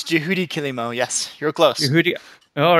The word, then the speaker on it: Juhudi Kilimo: you have to tell me the right pronounce pronunciation of this dude it's it's Judy kilimo yes your clothes Rudi all right that's right